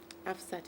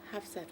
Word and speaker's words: Hafsat: into my phone it's half set half set is not um halfs set it's um half set with the H halfs set do